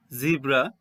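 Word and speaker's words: zebra: হবে জেড দিয়ে তো জেড ফর জিব্রা অর জেব্রা দুটো উচ্চারণই হতে পারে এরপর দেখো এ দিয়ে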